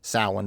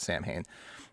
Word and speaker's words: Samhain: love uh Samhain or should be pronounced salmon but every always calls it Samhain love that that was